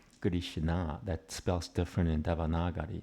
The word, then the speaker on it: Krishna: But even after 500 years, nobody really says Krishna. Everybody says Krishna, which is a totally different word.